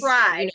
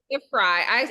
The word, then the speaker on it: Frey: pronounced my name correctly it's fry correct it's fry I even say it like I do phonetically like on my Instagram and stuff like like Fry like french fry I guess um but